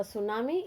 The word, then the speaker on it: tsunami: the spelling of tsunami t is silent okay t s u n a m i tsunami okay what is a